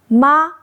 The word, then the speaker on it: mā: The single ping syllable ma same sparing four different tones for totally different meanings. Listen closely. First tone ma means mom the female parent.